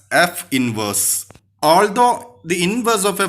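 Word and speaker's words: f⁻¹: an exponent of -1 and is pronounced as f inverse.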